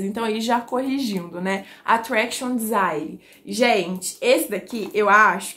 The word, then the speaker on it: Attraction Desire: Eu falei lá no Instagram Attraction Desire, mas se eu não me engano, a pronúncia correta é Attraction Desire, né? Do inglês mesmo e não do francês.